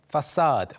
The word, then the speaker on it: facade: 먼저, 경이로워하다, 와 하면서 경탄하다, 감탄하다, marvel, 그리고 정면, 앞면을 가리키는 facade, facade라는 단어가 쓰이는데 발음이 좀 특이하게 들리죠?